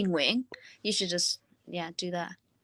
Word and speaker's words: Nguyen: Our last name is Nguyen. Mm. So some will say Nguyen, some will say Nguyen, but it's really Nguyen.